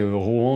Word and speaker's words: Rohan: Alors oui, je dis tantôt Rohan, tantôt Rohan. Durant ma lecture, je pensais Rohan dans ma tête, mais je sais maintenant que ça se prononce Rohan quand on suit les règles définies par Tolkien.